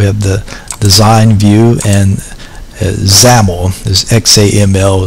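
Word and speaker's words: XAML: the design view and zaml this xam ml is pronounced zaml like camel but with a z and we're going to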